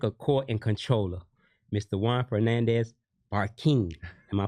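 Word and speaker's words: Juan Fernandez-Barquin: Juan Fernandez Barquin. Am I pronouncing it right?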